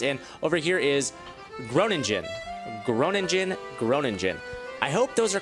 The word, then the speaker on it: Groningen: So I'm hoping that Utrecht, I think that's how that is pronounced, and over here is Groningen.